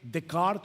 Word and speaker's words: Descartes: ¿Han escuchado la famosa frase de el filósofo francés René Decart o Descartes, como se escribe en español, pienso, luego existo.